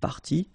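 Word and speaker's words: parties: what you will pronounce the good news is that you won't pronounce these a s or or a s okay so it will go like party party and then here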